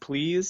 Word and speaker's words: Plez: then Plez. So that's supposed to be pronounced please.